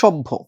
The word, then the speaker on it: সভ্য: সেইমভাবে যদি বলা হয় সভ্য। এতো এই সভ্য শব্দটা এই স এর মধ্যে অ ছিল পরে জফলা আসছে। এ কারণে অটা ও হলো। আর এই ভটা প ভ মহাপ্রাণ ধ্বনি সেই কারণে